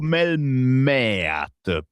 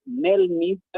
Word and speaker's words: Melmeet: Emiliano, spiegaci un attimo come ti dobbiamo chiamare, Melmeet o Melmeat? Allora, Melmeet è la pronuncia esatta.